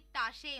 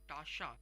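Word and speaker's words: Tasche: यानी जैसे हमें पहले पता है कि टाशे मतलब बैग होता है, कॉफर मतलब सूटकेस होता है, ऐसे ही फ्लैशे मतलब बॉटल होता है, और गिपैक मतलब लगेज।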